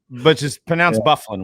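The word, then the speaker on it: Byfuglien: my mind is Dustin Byfuglian, which is pronounced Bufflin, which nobody in their right mind that's never heard of that guy that's seen that name would say Bufflin.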